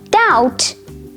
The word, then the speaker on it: doubt: letter b debt doubt and subtle now in the pronunciation of these three words the b sound ba is completely absent that's because the b is silent however there are quite